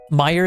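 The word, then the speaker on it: Meijer: Meer is the pronunciation.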